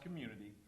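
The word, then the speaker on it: Cxmmunity: what does that mean first of all it's pronounced Community the x is the only character that you'll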